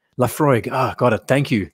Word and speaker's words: Laphroaig: revolution watch clip um the ph is pronounced with an f uh the laphroaig laphroaig ah got it thank